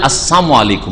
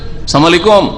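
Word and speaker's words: السلام عليكم: বদদোয়ার উদ্দেশ্যে যেমন ইয়াহুরা আসসালামু আলাইকুম বল লামটাকে উজ্জ করে সাইলেন্ট করে সালাম আলাইকুম আমাদের মুসলিমেরা অনেকে বলে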